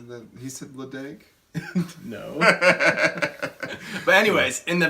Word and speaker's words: Ledaig: So even as Americans, we may feel stupid for calling it Ledaig, but even Scottish people call it Ledaig. But the distillery is either Ledaig or Ledaig, whatever you prefer.